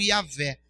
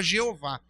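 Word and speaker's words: Yahweh: sou é uma máfia não tem vogais são só letras em hebraico mas pronuncia-se mais ou menos como iavé algumas pessoas traduziram erroneamente para jeová não tem problema entendendo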